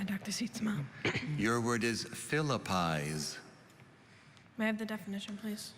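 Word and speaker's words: philippize: jelly beans and bacon are there any alternate pronunciations only philippis philippis p h i l l i p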